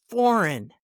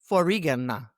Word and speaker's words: foreign: And then we have foreign, not forigana. It's F-O-R-E-I-G-N, foreign, foreign.